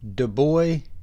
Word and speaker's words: DuBois: have a vintage Storm Master petrol lighter advertising Dubois chemicals at least according to their website that is the proper pronunciation we'll get into that a little bit